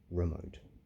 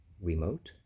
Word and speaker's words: remote: You pronounce that with an E. Remote.